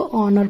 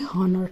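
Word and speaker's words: honour: यहाँ पर भी एच साइलेंट है, इसको ऑनर पढ़ेंगे ना कि हॉनर, ठीक है।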